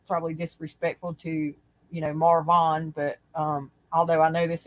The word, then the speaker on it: Marvon: Dre, D-R-E McCray, and his name is spelled M-A-R-V-O-N instead of Marvin. It's Marvon, and so the most